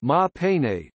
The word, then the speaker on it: Maha Pane: In the Burmese language, Ganesha is known as Maha Pane, pronounced Ma Pane, derived from Pali Maha Winayaka.